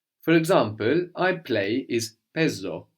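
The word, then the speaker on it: παίζω: I play is pezo pezo pezo so this is spelled p which is the letter that looks like the mathematical symbol the pi no a i which gives us the a sound like in K the word for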